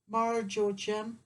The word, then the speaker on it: marjoram: Marjo, how do you pronounce it, Richard? Marjoram.